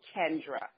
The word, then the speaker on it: Kendra: And when my first name is pronounced Kendra, just so you know, Kendra.